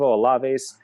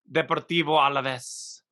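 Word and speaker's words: Alavés: And it's Deportivo Alaves. Alaves. Oh, a little bit of that nice lisp at the end there.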